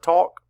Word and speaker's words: talk: Say the word talk. Talk. Sound it out. Talk. Talk. And of course, AL says all in that. It's one sound.